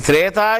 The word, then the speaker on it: Thraitha: They didn't even know whether the Thretha Yugam is the original name or are they mispronouncing it. What is the original name of Thretha Yugam? Thraitha Yugam.